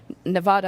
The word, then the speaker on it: Nevada: in tax credits and Nevada I've learned to pronounce Nevada not Nevada Nevada as well is so